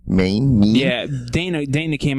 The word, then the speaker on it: Mein: man won't you it up mean main mean yeah Dana Dana came out and made